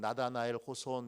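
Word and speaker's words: 너새니얼 호손: 이라고 하는 분이 있습니다 옛날에 읽을 때는 나다나엘 호손 이렇게 읽었는데 요즘은 원어 발음에 가깝게 읽도록 그렇게 되어 있어서 네서 이얼 호손이라고 읽습니다 그분이 1850년에 큰바위 얼굴이라는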